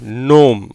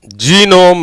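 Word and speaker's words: gnome: ஆக நடுவில் இருக்க அந்த மூன்று எழுத்துக்களுக்கு மட்டும்தான் உச்சரிப்பு. இன் ப்ளஸ் ஓ, நோ. எம்முக்கு இம். எப்படி வந்துடுது, நோம். ஜீனோம் இல்லை.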